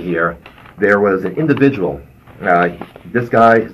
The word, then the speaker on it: Ngo: last name is Vietnamese its NGO I thinks pronounce no Andy no now this guy